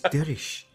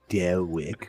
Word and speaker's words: Derich: Derich with a rich, not Rick.